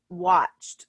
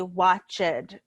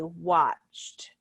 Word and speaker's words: watched: remember with the pronunciation it's not an extra syllable it's just watched it's a single syllable so we don't say watch it we say watched the next example sue